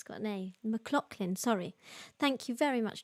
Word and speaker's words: McLachlan: um trevor says fyi name is pronounced mclaughlin mcclop mcclocklin sorry thank you very much thank you mclaughlin what did i say mccl what did i say my i said mclachlan yeah sorry because it's